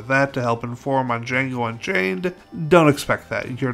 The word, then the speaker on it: Django: film in my collection, Django Unchained from 2012. It's directed by Quentin Tarantino and stars Jamie Foxx and Christoph Waltz. That's spelled D-J-A-N-G-O, the D is silent, as Jamie Foxx's Django